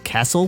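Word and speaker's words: CASEL: and emotional learning c-a-s-e-l i guess i'll pronounce that castle from now on history sel began in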